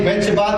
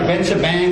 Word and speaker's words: Benchabat: If you mention Isaac Benchabat, they're like Benchabang.